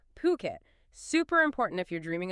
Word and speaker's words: Phuket: And look, for anyone listening, let's just get the pronunciation right immediately. We are talking about Phuket. Okay, not Fuket or anything else. Phuket.